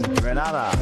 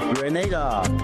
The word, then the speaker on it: Grenada: So today, like we German say, we are in Granada. But I heard in English it's called Grenada.